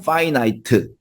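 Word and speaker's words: finite: 돼버렸어요 그럼 인피니 무한인데 무한의 반대 말은 이건 피라고 읽느냐 아니요 파이라고 읽습니다 그래서 유한한 파이나이트 되겠죠 그다음에 무한한 인피니티입니다 자 그런데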